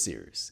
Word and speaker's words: Cyrus: Anyway, my name is Sears. It's spelled like Cyrus, pronounced like Sea Rooster. Just take out the turn.